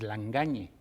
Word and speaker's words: Lagagne: Y así, cuando vi la luz, lo pronuncié en espagnol.